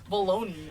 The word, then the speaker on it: bologna: bologna it's pronounced bologna it's spelled bologna but it's pronounced balone hold on let me